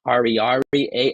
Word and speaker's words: Ariary: R is what we would pronounce, I guess, Ariary, Ariary.